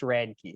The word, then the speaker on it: Radtke: So it's pronounced Radtke. So you're like describing a key that is radical. That is radical. Radtke.